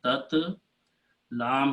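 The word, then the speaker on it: تتلى: So we make a change in there, and we change this last letter into an alif maksura. So this becomes tat. These two will be tat. Lam has a fatah on it. And then this last letter is changed in a small alif, which is called alif maksura, which is written this way. It is not a ya. This whole thing is called alif maksura, tatla.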